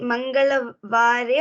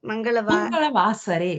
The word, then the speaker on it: Mangalavasare: Is pronunciation Mangalavare or Mangalavasare? Mangalavasare. Vasare.